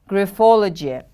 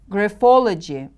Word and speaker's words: graphology: of personality they have graphology the stress is on the second syllable repeat after me please graphology gryphology good job what